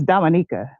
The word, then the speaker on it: Dominica: It's Dominica.